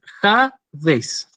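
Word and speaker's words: ᾍδης: Entonces, yo cuando separo en sílabas esta palabra es Hades, tiene 2 sílabas. Este es el diptongo impropio, en mayúscula, y esta es bueno, la última sílaba, ¿sí? Y es una palabra además paroxítona, acento agudo en la anteúltima.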